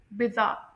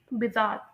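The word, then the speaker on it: bizarre: यानी इसमें आर silent होगा, जैसे कि मैं आप लोगों को पहले बता चुकी हूँ कि स्टैंडर्ड ब्रिटिश प्रोनाउंसिएशन में आर साइलेंट होता है, एंड अमेरिकन प्रोनाउंसिएशन में होगा बिजार, बिजार, क्योंकि इसमें आर जो है वो प्रोनाउंस्ड होता है, ठीक है।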